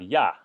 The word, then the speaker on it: 呀: Again, this is usually neutral tone. You can say ya with the first tone or apparently xia with the first tone. I've never heard that pronunciation personally, so it's usually just neutral tone ya.